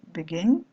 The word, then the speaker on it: begin: Donc par exemple, ce verbe-là, vous allez prononcer begin, et l'accent tonique tombe sur la dernière syllabe, begin.